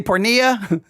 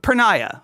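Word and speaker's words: porneia: I say pornia. I It's pornia. I always say pornia. I always I always say it wrong. All right. All right. Prenia. Preniah. Okay. So, I I I'll finally for what, 20 years, I I think I've heard every pastor say it incorrectly. Preniah.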